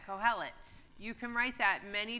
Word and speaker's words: Kohelet: All right, so I mentioned this word already, Kohelet. Say it with me. Kohelet.